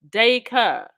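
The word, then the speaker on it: Dacre: I say Paul's surname is pronounced Dayker.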